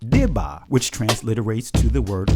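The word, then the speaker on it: דִּבָּה: Now let's go to the Hebrew definition of the word daba, which in modern Hebrew is pronounced dibah, which transliterates to the word report.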